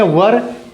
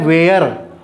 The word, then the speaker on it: were: तो क्या पढ़ेंगे वज इसको पढ़ेंगे वर कई लोग इसको क्या पढ़ते हैं वेयर वेयर नहीं है दिस इ रंग सही क्या है प्रोनंसिएशन क्या है कैसे प्रोनाउंस करेंगे वर को नहीं इसको ये क कई लोग क्या कहते हैं इसको पढ़ते हैं ऐसे वेयर ये वेर मतलब होता है कहां यह वेर है और यह वर है वर वर मतलब